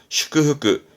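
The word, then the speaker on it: 祝福: 슈크흐크, 슈크흐크, 음은 슈크예요. 슈크흐크. 그러면 축일이네요.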